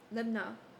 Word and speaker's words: Libnah: His mother's name was How to pronounce Emutal, the daughter of Jeremiah of Libaniah. How to pronounce Libnah.